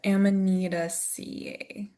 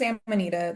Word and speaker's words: Amanita: All the the vowels always throw me off. Ammonita, but the genus is Amanita.